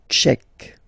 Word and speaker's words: tchèque: La République tchèque. So remember, Q-U-E, K, K, Tchèque. La, and then here as well, République. K. La République tchèque.